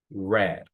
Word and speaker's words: read: we have weed and in past we have red color red so pronounce red red red so if I say